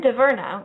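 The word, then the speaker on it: Dhavernas: presses and first up Carolyn dierna which is how it's pronounced in the English speaking world I'm not going to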